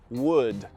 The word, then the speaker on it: would: Vamos trabalhar a pronúncia você não pronuncia esse l então você não vai falar w ou w você vai pronunciar Wood Wood fale depois de